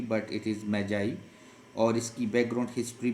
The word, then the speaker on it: Magi: So, gift of the Magi, this word usually the people pronounce it Maggie but it is Magi.